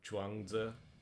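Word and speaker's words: 庄子: ZH is a j sound, so Zhuangzi.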